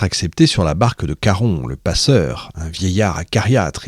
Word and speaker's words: Charon: J'en profite pour vous rappeler hein, on dit caron et pas charon. Euh même si ça s'écrit ch, on diton.